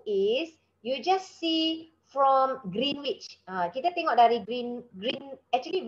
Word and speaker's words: Greenwich: always like to say Greenwich, right? But it's actually Greenwich. It's apparently the W is a silent W. You know the English they like silent W lah, silent U lah kan.